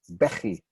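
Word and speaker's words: בכי: It's unusual also in that the first syllable gets the stress, even though it's not one of those echo vowel words with 2 syllables with the same vowel, like, my name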